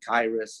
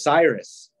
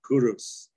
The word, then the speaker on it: Cyrus: and the Greek name for him is actually kairis and then the Miss English we pronounce mispronounce it as Cyrus but what did he call himself he called himself kurus and he said I am in Aryan the